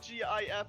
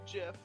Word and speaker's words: GIF: the dock I personally think that gif is the correct pronunciation however I was in a relationship for five years with somebody who said Jeff so it just kind of